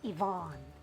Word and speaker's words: Yvonne: Ang tatandaan nyo sa first rule na to, kapag ang proper names nagsisimula sa letter Y, hindi natin siya pwedeng i-pronounce as yeah. It has to be sounded as long E.